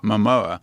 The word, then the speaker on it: Momoa: Jason How do you pronounce his name? Momoa. Momoa.